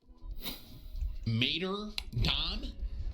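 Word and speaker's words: Martyrdom: Tim, it's Mater Dom.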